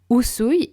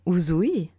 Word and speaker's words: Usui: Le SH dans le Shinshin, qui n'est pas Shinsin, Usui et non Uzui, Reiki et non Raiki, et enfin Ryoho et non Ryo-o.